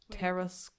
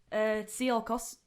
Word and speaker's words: Tsiolkovsky: Konstantin Teresklovy. I can't pronounce his surname. We'll just call him Konstantin. Tsiolkovsky? There we go.